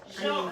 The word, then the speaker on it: Jean: Jean, her name is Jean.